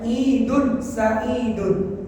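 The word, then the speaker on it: عيد سعيد: yang diucapkan mereka apa ID Said bahasa Arabnya idun Saun dibaca wakaf ID Said Apa artinya Ustaz happy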